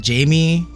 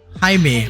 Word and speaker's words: Jaime: sake just the jamie or jaime part if you can do that hi me okay hi me okay i'm it what's up hey i was i was pronouncing it wrong from the beginning oh my god i